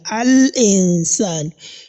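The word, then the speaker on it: الإنسان: Al-insan. We can hear the sound of the lam in this place in the word al-insan.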